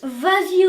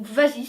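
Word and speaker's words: Vazee: sur ce nom vas-y ça s'écrit V a Z e e ça vous cause non mais c'est en fait c'est un coup marketing de la de New Balance qui a décidé de franciser le nom donc vas-y c'est comme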